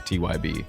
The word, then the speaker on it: TeawhYB: showing infants emphasis that the capitalized letters are the ones that you actually pronounce for the most part and that's this is actually this was my way of telling people how to pronounce tyb it's very thoughtful and